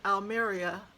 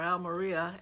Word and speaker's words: Almería: I made it to Alia or Al Maria as I've heard it pronounced the most so I I'll call it Al Maria in Spain I left